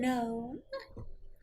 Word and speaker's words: gnome: At your service, I'm a gnome. Of the forest variety. I can see I've met a lot of rock The and N cave is gnomes. silent. No, the G is silent.